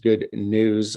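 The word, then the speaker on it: Good Gnus: the owner of uh good news uh and that's pronounced good news like uh like it sounds but spelled gnus um bill is a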